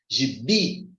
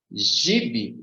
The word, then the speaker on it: gibi: pronunciar aqui mais forte como é que fica Gibi gibe Gib não é a pronúncia que eu conheço dessa palavra que é Gibi observa que com Gibi